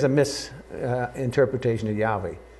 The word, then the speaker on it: Yahweh: Lord like and so they put the vows from Adonai underneath Yahweh and you get Jehovah and it's uh it's just a misp and it's a correct